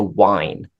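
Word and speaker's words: whine: w i n e so the H is silent so you're winging and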